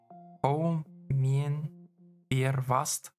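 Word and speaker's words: Hou mijn bier vast: It's pronounced Hou Mien Bier Vast.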